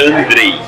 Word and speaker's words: Andrei: Mas meu nome é Andrei. Andrei. Você começa e daí você larga a mão.